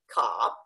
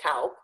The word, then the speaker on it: Kaup: it's from German so Americans don't know what to do with the AU in my name because a you can be pronounced different ways in English so some people try and say Cobb occasionally people are recognized at his German ill pronounce it cow but usually I always